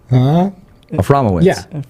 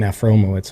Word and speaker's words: Aframowitz: Aframowitz. Yeah. Yes. We had him saying Afromowitz for a while.